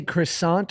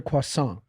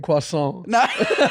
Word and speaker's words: croissant: now do you say croissant or Quant I say croissant but like that's just cuz I'm lazy I know I'm supposed to say croissant but it's also too much I look so lame my wife kills me for saying quason she kills me as